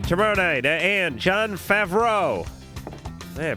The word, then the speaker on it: Favreau: All right, tomorrow night, and John Favreau. Yeah, I pronounced that right.